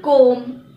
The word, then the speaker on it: comb: Now for the rule when the letter B is not pronounced when it comes after an M. For example, comb, womb, tomb, plumber, thumb, dumb.